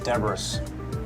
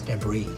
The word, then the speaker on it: debris: all over the desert or deborah's no it's debris well there's an s why is it pronounced